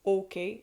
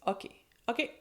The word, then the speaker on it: OK: There is always the practical "ok", but in French, in Québec, we're gonna pronounce "ok", "ok", with a more open O, so instead of "ok", it's "ok".